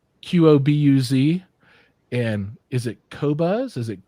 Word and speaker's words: Qobuz: once and for all tell us how you pronounce the name of the company he works for. Spelled Qobuz. And is it Qobuz? Is it Quobuz?